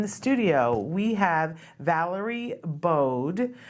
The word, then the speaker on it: Baadh: studio we have Valerie bode I said it wrong before and do you do Valerie bode or just Valerie boat anyway okay all right but it's bode and so I wanted to